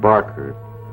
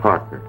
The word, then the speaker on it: Parker: got my name wrong it's not Barker it's Parker I got myself a